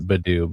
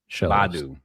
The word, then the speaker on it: Badu: It's not Badoo, but Badu.